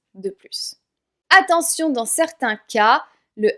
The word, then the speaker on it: plus: On a bien un adverbe de quantité, mais je prononce pas le S parce qu'il y a un mot avec une consonne juste après.